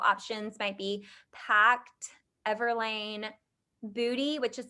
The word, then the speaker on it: Boody: A few more affordable options might be Pact, Everlane, Booty, which is spelled Boody, and Able.